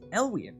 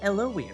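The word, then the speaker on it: Elwyen: saying her name correctly oh thanks i've been pronouncing it as elian all this time he knows see no you haven't mardick you big dope you've been saying it elon like it's supposed to be if you're trying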